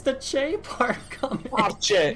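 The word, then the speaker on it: fáilte: Falche. Look up falche in Irish. It's spelled fal. Where's the che part come in?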